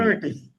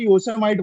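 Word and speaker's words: Yosemite: योसेमिटी। यस या योसेमिटी, हाँ। वो आजीवन में आज तक मैं उसे योसेमाइट बोला करता था।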